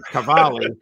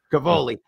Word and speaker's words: Cavoli: Well, who does General, I think I have his name right, and I should be able to pronounce his last name, Cavoli. Cavoli.